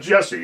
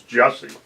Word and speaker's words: Jussie: It's not Jesse, it's Jussie.